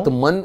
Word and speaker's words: आत्मा: तो ऐसे हुआ, जब मैं बॉम्बे आता हूँ या दिल्ली आता हूँ, आत्मन इन रवि है कि आत्मा? एंड साइलेंट है, आत्मा है, रवि में आत्मा।